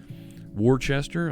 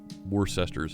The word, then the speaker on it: Worcester: they said in Massachusetts Worchester I've heard folks say it but were sisters how we say it around here hey can lap good